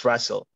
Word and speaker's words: Razel: Razel, I hope I'm saying your name right. Could you please ask your question? Okay, thank you very much. You pronounced the name correctly, it's Razel.